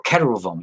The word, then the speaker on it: keruvim: Or so when you look at what cherubim are, or keruvim in Hebrew, it's spelled Keruvim, right?